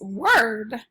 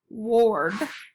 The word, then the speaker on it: word: your next word is word word should say wha or d ward but it says word so instead of saying